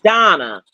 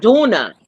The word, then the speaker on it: Donna: My damn name is Donna, not Duna.